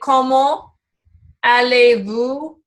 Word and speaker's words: comment allez-vous: And so they've done what is called liaison, where you can kind of, it almost sounds like the two words are connected. Comment allez-vous? And you would pronounce that T.